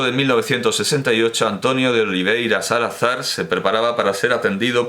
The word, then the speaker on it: Salazar: y bueno, por iberismo lo voy a pronunciar Salazar y no Salazar.